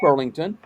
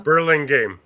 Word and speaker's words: Burlingame: We got Walton, Doyle, and Burlington. And thanks for Burlingame, Marty. Huh? Burlingame.